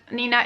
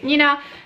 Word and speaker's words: Nina: Nina Reads, and I know that Nina is pronounced differently in English, but this is how we say it in Czech, so we say Nina. And I prefer this pronunciation, but like it's fine if you pronounce it Nina.